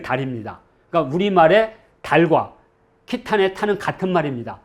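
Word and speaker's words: Khitan: 그리고 러시아는 말 그대로 그냥 키탄에 이게 늘어나서 키타이. 이것이 이제 캐세이와 같은 발음인 거죠. 캐세이, 키타이. 그리고 영어가 이제 캐세이가 됩니다. 그런데 거란 사람들은 이걸 어떻게 읽었을까? 저는 이 발음이 가장 정확하다고 봅니다. 키탄.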